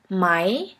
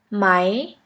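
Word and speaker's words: Mai: a E which is pronounced like the English word for I I here we have the example of the word my my which means the month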